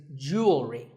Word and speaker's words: jewelry: Word number 44 is jewelry. It's spelled differently in American and British English, but it's pronounced the same. Jewelry. Jewelry. It's not jewelry and it's not jewelry. It's jewelry.